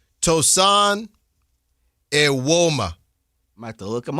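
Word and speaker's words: Evbuomwan: Apparently the N is silent.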